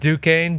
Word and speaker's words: Duquesne: And just so you know, when they go on a run, it's pronounced Duquesne, Dukes, okay?